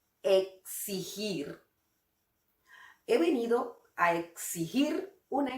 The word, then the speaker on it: exigir: Querido muchachón, para pronunciar bien esta palabra, solo imagina que se escribe de esta manera. Exigir. Hazlo así y todo estará bien y tendrás una pronunciación de lujo. Exigir.